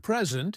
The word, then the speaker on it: present: English has word stress. For example, in the word present, if you say pre-sent, noun, it's a gift.